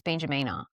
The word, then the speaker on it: Benjamina: No, but when you do that, that E is pronounced like an A. So it's Benjamina.